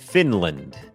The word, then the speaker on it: Finland: เป็น คอร์ส ฝึก ออก เสียง ฟินแลนด์ อ่าน ว่า finland finland โอเค อัน นี้ บ่ง บอก ว่า จำ ได้ ม อัน นี้ ก็ เน้น พยางค์ ขึ้น สูง Fin Fin Fin พยางค ไม่ เน้น l l finland finland เหมือน กัน ครับ ชุม ชน ครับ community